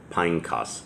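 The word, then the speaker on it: Phinehas: hill that belonged to pineas pineos is how that's actually pronounced his son which was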